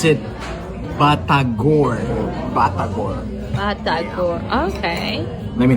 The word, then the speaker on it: batagor: Indonesian they pronounce it batagor.